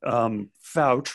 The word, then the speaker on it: Fouch: And I think our volunteer, our target, our subject for this week, Benjamin Fouch, rhymes with couch, checks a lot of boxes.